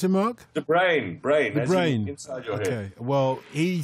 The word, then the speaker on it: De Bruyne: YouTube clip of Kevin do how did you pronounce him on the brain brain brain well he says this one of our listeners says there's a YouTube video of Kevin himself saying de bruyne now so he doesn't even know pronounce his